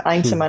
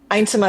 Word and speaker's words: Yntema: So I'm Eintema now. So my Yntema? website is Eintema is how you pronounce it. It's Dutch, Thank you.